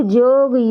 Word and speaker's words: योग: आपके पास विकल्प हैं: योग, जॉगिंग, योग या जॉगिंग। तो दोस्तों, यहाँ सही उत्तर क्या होगा? विकल्प बी, 'जॉग'। नागपुरिया में 'योग' का उच्चारण क्या है? 'जॉग'।